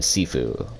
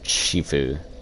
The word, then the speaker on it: Sifu: I saw absolver and sifu or Shifu I think it's sifu though because there's no sh it again I don't speak